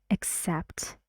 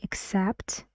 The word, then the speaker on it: except: went to the party except Adele 's Adele Perez Adele so the word is accept two syllables where's the stress except that's right and the S sound goes here except except and this is like uh